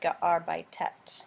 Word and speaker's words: gearbeitet: and that is because when you get rid of the en, arbeit, the stem ends in a T, and you can't pronounce two T's next to each other, so you have to add an E in there, add an extra syllable. So that is why this participle is gearbeitet, not just two T's.